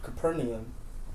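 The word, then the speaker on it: Capernaum: they were come to Caper capernium right that's how you say it capernium they that received tribute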